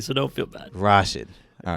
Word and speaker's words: Rashid: uh I know it's It's Tricky it's rarely pronounced correctly so don't feel bad Rashid all right Rashid yes rash Rashid I have